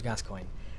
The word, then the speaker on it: Gascoigne: is Moira right and father Gascoigne his name's Gascoigne and then we people see his name's I